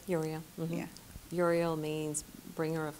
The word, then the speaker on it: Uriel: there cool all right archangel Uriel that's how you say it Uriel yeah Uriel means bringer